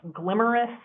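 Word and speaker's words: GLMRIS: study that was called a really unfortunate acronym that pronounced glamorous oceans ugly Great Lakes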